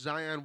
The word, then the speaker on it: Zion: It is pronounced Zion Williamson.